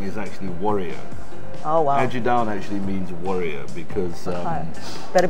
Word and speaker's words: Ajidahun: Ajidahun. It's like Aji, A-J-I, Aji, mm-hmm. and down. Ajidahun. Ajidahun. So you don't pronounce the H. Ajidahun.